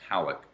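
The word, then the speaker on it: Pawelec: see there's an interview with a guy named Pawlek. And Pawlek, P-A-W-E-L-E-C, but it's pronounced Pawlek.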